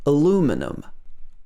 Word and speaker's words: aluminum: aluminium aluminium and in the us it's called aluminum aluminum this can be as i said spelt